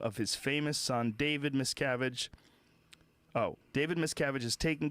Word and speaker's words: Miscavige: What's the correct pronunciation? It's Miscavige? No, Miscavige.